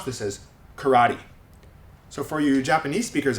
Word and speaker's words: karate: look at the word karate okay now in Japanese it's pronounced Kate right but English speakers usually if it's a three syllable word English speakers will stress the middle syllable and a lot of